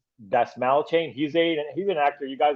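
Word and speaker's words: Dastmalchian: I think it's pronounced Dasmalchain.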